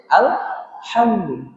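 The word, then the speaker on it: الحمد: Dibacanya H tipis atau H tebal, Bu? H tipis. H tipis. Jadi bukan alhamdu alhamdu harusnya alhamdu. Hnya tipis gitu ya.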